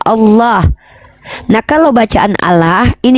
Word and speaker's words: Allah: Bukan ala itu, Kak. Iya. Coba baca dulu bacaannya tuh gitu. Kalau A L-nya 2 itu gak bisa dibaca Allah. L2 itu ada pantulan L-nya karena L-nya 2, makanya bacanya Allah.